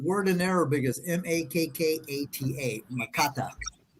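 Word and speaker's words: Makkata: show them that in Arabic and let them pronounce that word in Arabic the the word in Arabic is m-a-k-k-a-t-a makata let's pull it down uh there we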